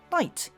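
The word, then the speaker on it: knight: to be pronounced as night in modern English. However, the spelling stayed more or less the same since Middle English, as speakers of modern English know, and the K and GH are silent.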